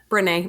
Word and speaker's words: Brené: Brené.